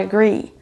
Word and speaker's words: agree: Pour agree, c'est sur la deuxième syllabe qu'on accentuera, donc on n'aura pas I agree ou I agree, mais I agree. Agree. C'est la deuxième qui est prononcée plus longue.